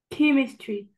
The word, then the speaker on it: chemistry: Non, le ch là chemistry. Chemistry. Voilà.